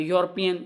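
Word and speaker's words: European: sound दे रहा है यूरोपियन ये भी हमें यू का साउंड दे रहा है तो इस वजह से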